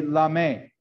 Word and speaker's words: lame: different ways this is this is called a la may um or it's spelled lame l-a-m-e um and really